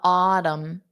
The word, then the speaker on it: autumn: the Autumn the autm so for Autumn there is no n Sound I think it'd be pretty impossible to go from a Autumn to an N it's just your mouth wouldn't even work like that so autumn the Autumn